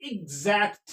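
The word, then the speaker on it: exact: क्या पढ़ते हैं ई एक्स ए सी टी इजैक्ट क्या पढ़ेंगे इजैक्ट क्या पढ़ेंगे इजैक्ट तो इस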